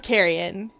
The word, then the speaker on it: Carrion: I'm informed that's how you correctly pronounce that word, as opposed to the way I like to pronounce that word, which is like luggage that you take on the plane with you.